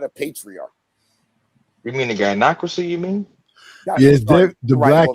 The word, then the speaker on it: gynocracy: We came from a dynography, not a patriarchy. You mean the gynocracy, you mean?